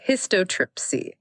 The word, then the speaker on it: histotripsy: It's pronounced hystotripsy.